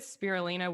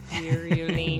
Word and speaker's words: spirulina: If you feed it spirulina, will it turn like pretty green color?